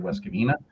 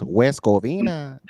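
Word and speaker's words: West Covina: in Los Angeles in West Cavina. Um just hit up uh hit them up. You gotta say it like this. West Coina.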